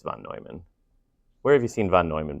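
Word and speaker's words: von Neumann: Someone pronounced it von Newman. That's fine. But I'm pretty sure it's Vonoyman.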